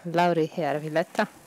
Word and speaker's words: Lauri Järvilehto: Nazywam się Lauri Järvilehto. That was, by the way, amazing pronunciation.